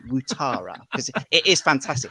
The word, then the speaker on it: Ouattara: It should be Dongo, but it's Ouattara, which is say water in a weird way and then add the A on the end.